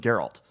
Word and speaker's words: Geralt: It's literally just Geralt.